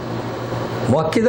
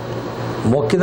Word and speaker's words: مؤکدہ: وہ مؤکد کی گئی مؤکدہ نہیں مؤکدہ بولیں گے تو کیا مطلب وہ